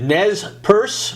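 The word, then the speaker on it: Nez Perce: the trans tragic story of the is it Nez purse or how do you pronounce that the Native Americans that's perfect that's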